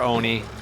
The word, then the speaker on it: ONI: and dumb uh yeah we call it Anie for short or Oni depending on how you like to pronounce it but it's short